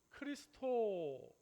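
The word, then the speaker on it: Χριστός: 우리가 이제 X라고 보이는데 어 사실이 X라고 하는 것이 그 헬라어 언어에 보면 알파벳 헬라어로 알파벳은 저게 크이라고 읽어요. 그래서 이게 어디에 쓰이느냐면 바로 우리 예수 크리스토스라고 얘기할 때 우리는 그리스도라고 번역이 돼 있잖아요.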